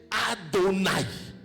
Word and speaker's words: Adonaï: Lorsque dans les écritures, vous trouvez ce mot-là a quatre lettres. H Y H WH H qu'on a déformé en Yahwé, en Yahvé, en Jéhovah, vous prononcez Adonaï.